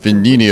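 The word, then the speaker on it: Venigni: talk some more about V Vini venini okay a silent G Roger that company manufactures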